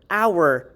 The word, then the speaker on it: hour: for example the word honor hour and herb you would still be using your n article because there's a silent h particularly acronym i am